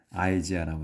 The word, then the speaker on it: Isaiah: 이제 우리는 이사야라고 하는데 영어로 이제 할 때는 아이지아라고 합니다. 아이지아. 이 아이를 영어에서 그냥 아이로 발음을 해요. 우리 한국에서는 이라고 하는데 발음에서는 영어에서는 아이라고 발음합니다. 그래서 아이지아.